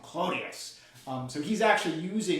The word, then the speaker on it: Clodius: kind of cockney pronunciation so roman patrician would say something like claudius but a sort of roman would pronounce that a u would just sort of turn it into an o sound clonius um so he's actually